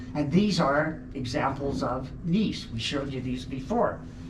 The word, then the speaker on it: gneiss: Gneiss is a type of rock, G-N-E-I-S-S. It's actually pronounced gneiss.